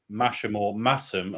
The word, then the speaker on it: Masham: I reckon somewhere not long after that, I took my yearly pilgrimage to Masham, as I've now been pronounced, in North Yorkshire, to visit Theakston and Black Sheep.